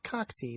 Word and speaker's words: Cocci: Coxy. It's pronounced Coxy, not Coccidioides, as in Coccidioidomycosis or Valley fever.